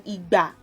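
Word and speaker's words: ìgbà: You have to put the accents on igba. So when you pronounce igba is time, you would know that do is what you need to put on the two syllables.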